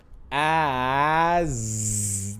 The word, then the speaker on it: as: We got as. These S at the end sounds like a Z.